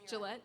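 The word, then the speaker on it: Jillette: My name is Gillette. I'm not going to tell you my address. My name is Gillette. It's spelled with a J.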